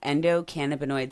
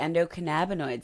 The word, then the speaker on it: endocannabinoid: You might have also heard it called the endocannabinoid system. Both pronunciations are valid and correct, and honestly, I use both, so use whichever one you're most comfortable with.